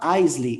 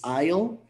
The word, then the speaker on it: aisle: is it because like aisle is pronounced completely different from what it's written like it's not eisley it's isle is is it this